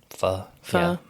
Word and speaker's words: pho: Pho.